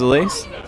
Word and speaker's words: Elise: Like Elise, but like spelt the same as Elise. How do you spell it? How do you spell Elise? Elise. Yeah, same. Okay, but you just say it like Elise. Elise, because it's French.